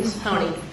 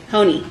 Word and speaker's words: Hony: Hony. Hony.